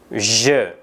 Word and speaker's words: je: Jadi perhatikan huruf J dan E. Pengucapannya adalah je. Banyak penutur berbahasa Indonesia yang melakukan kesalahan dalam pengucapan, seperti pada pengucapan-pengucapan berikut. Nah, ini pengucapan-pengucapan yang kurang tepat. Je, J, atau J. Ya, itu semua pengucapan yang tidak benar.